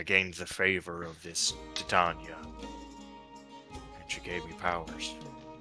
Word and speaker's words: Titania: It's Titania, you fuck!